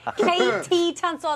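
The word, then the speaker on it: KT Tunstall: Katie Tunstall, and that's spelled with a K and the letter T, Tunstall.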